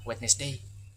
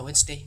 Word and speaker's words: Wednesday: Karena kemang siswa contoh kata eh Wednesday tadi itu banyak yang eh membacanya Wednesday. Padahal yang sebenar padahal aslinya adalah Wednesday, bukan Wedness Day.